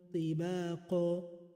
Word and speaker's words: طباقا: But instead of saying samawatin, because it is ta, which is harfu isti'ila, like qaf, it has to be pronounced with a heavy mouth. So it will become samawatin tibaqa, tibaqa, tibaqa.